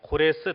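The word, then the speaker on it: 고레스: 나라입니다 그 페르시아 제국을 건설한 사람을 성경 해서는 코레스 라고 발음을 합니다 코레스 대왕 이라고 하는 사람인데 이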